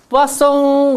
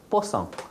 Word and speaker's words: Poisson: It is French. Yeah, so Poisson. But in my experience, people like the more it sounds like more likely Poisson. So we say, as a Korean say, Poisson, but in in American